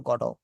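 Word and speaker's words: Godot: উচ্চারণটা কিন্তু গডট না। আপনারা কি গডট করতেন না গডো করতেন উচ্চারণটা? আমরা গডত করতাম। গডব। এটা কিন্তু ওয়েটিং ফর গডো।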